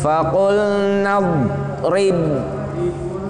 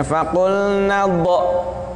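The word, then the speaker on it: فَقُلْنَا اضْرِب: Faqul nadrib. Perhatikan, do di situ bukan qalqalah. Gak boleh kita bacanya faqul nadh. Nah, salah. Faqul nadh, salah.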